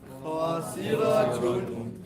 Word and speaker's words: خاسرة: Then we have khasira two, and I'm telling you, pronounce the ta as what? Ha sakina. So it's understood. Khasiratun. خاسرة How do you stop on it?